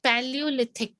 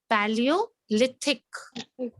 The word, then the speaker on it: Paleolithic: Paleolithic. This is how you pronounce it. Paleolithic. I'll Okay, help you. Paleo, you can break it here. Paleolithic.